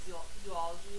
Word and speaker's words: zoology: for lab work but I always laugh at people and they say zoology and I'll say could you spell that for me and they'll spell it correctly and I'm like actually spell it the way you're pronouncing it there should be three o so you never stop